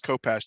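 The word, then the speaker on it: khopesh: just exactly right yeah the the k in the front of that h um in arabic comes out like you're trying to clear your throat a little bit so it's yeah there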